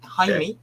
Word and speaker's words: Jaime: speeded by journalist and UFO researcher Jaime Jaime Jaime that's how you say it who testified under